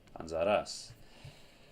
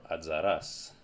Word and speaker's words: Anzaras: pronounced, you'll either get or you'll get anzaras or adzaras, with the stress falling on the last letter, on the last vowel rather. Adzaras or anzaras. Both are right.